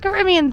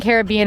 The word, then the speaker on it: Caribbean: you can probably guessed Caribbean themed I am going to switch between Caribbean and Caribbean even though I believe the Caribbean is the proper pronunciation just a heads up